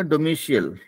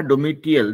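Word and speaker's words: domicile: आपका एक वर्ड था डोमिशियल, आपने कहा डोमिटियल. डोमिटियल नहीं होगा, वो डोमिशियल होगा.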